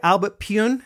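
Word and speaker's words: Albert Pyun: many times with Albert I pronounce it wrong is it Albert pun yeah Albert pun yeah on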